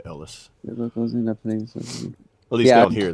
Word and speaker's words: Elias: Who believes nearby villagers are harboring Viet Cong soldiers and Sergeant Elias? Yeah. William Defoe. Ellis. Oh, Ellis. Yeah, it said it. It's spelled Elias, but it said Ellis.